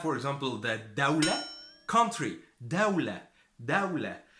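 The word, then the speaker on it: دولة: Dawla. So dawla is country, and you pronounce the dal the same way as you pronounce the d, dawla.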